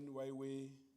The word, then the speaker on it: Huawei: that we also have Huawei. You know, when Huawei came into South Africa, we didn't know how to pronounce it. Up until somebody said it to me, just say why and way and combine it.